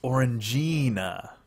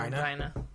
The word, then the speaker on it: Orangina: Pronounced Orangina. Is it? Is it? I will take Furball's word for it because it sounds less like another word. Gina? Orangina. Gina. Gina. Orangina.